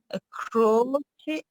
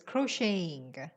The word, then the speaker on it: crocheting: But in this context, stab, crocheting? No, the T is not pronounced, yes. Crocheting.